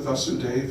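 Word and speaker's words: Vāsudev: So the son of Vasudev, in this case, the practice would be to lengthen the first syllable, which is just A, Vasudev, just A, Vasudev. So Krishna, the son of Vasudev, is Vasudev, with a long A.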